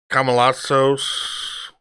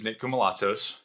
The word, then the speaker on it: Nico Malazos: decide what's essential okay my name is nico malazos that's how you pronounce it entrepreneur business owner father